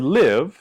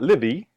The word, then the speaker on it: live: In the word live, the last sound is v, right? We have this letter E at the end, but it's not livy, right? The E is silent. So we don't need to think about that sound.